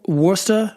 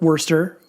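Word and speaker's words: Worcester: metal and hardcore Festival located in the beautiful wora Massachusetts or Worster W wor I'm joking obviously I know how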